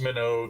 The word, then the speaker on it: Minogue: for at one point Kylie Minogue it's it's it's pronounced minnow cuz you know got to be different right yeah alright so